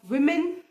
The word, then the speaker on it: woman: अगर आप बोलोगे there was अ विमेन इन the room, तो विमेन मतलब प्लूरल. और अगर आप वुमेन बोलोगे that मीन्स singular. So you need to be accurate with your pronunciation. Single औरत को हम वुमेन पढ़ेंगे, वेयर इज प्लूरल को हम विमेन पढ़ेंगे.